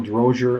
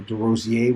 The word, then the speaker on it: Derosier: player ex drummer Michael drozier or derosier which is how you say it and Mark Andes